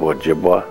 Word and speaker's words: Ojibwe: the government calls us chip was a mispronunciation of Ojibwe you know jibba I'm